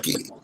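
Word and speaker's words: Guy: no because my name my real name is ghee g-u-y but my family's from haiti is pronounced ghee right and we ship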